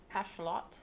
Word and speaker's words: axolotl: So the axolotl apparently is pronounced more like ashlot, but I'm just gonna continue with the colloquial use of it, since most people pronounce it axolotl.